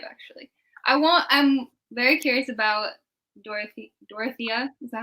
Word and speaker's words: Dorothea: I'm very curious about Dorothea. Is that how you say it? Dorothea, yeah.